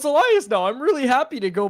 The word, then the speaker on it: Elias: name bar and also we're told now it's pronounced Elias peton where did that come from did he